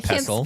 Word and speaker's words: pestle: I think it's mortar and pestle. Speak. I don't think the T is I don't think the T is uh pronounced.